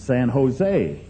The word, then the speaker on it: San Jose: You don't pronounce a J. It's San Jose."